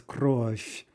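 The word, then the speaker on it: кровь: in a moment anyway the word for blood is crush crush right so a fu sound at the end soft f not soft v okay the same thing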